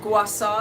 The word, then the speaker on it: gua sha: It's called gua sha. It's spelled, I don't even know if I'm saying it right, or gua sha.